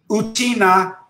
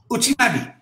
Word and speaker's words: Uchinadi: And so the word te or T or D, pronounced in Okinawan, Uchinago, is pronounced. So he said, call it Uchinadi. Uchinadi.